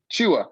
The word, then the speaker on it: Chua: You pronounce it Chua. Chua.